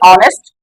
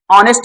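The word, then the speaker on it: honest: यहां पर ए लगा इसको हम पढ़ते हैं ऑनेस्ट ऑनेस्ट में एच साइलेंट है हिंदी लिखकर देखेंगे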